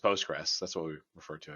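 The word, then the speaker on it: PostgreSQL: compatible with mysql and postgres sql or sorry postgres we don't we don't usually pronounce the postgres sql it's usually just postgres that's what we refer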